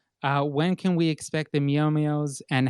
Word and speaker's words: Meow Meows: All right, then that question for you: when can we expect the Meow Meows, and how do I pronounce them properly?